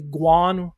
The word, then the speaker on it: Quan: So u my last name is Quan. We would spell it quo n. Uh it's really more realistically Guan with a G uh sound to it. Um, but Quan, nonetheless, that is the